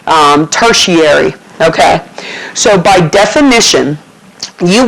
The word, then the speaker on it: tertiary: okay that's pronounced tary the ti gives you an sh sound um tertiary okay so by definition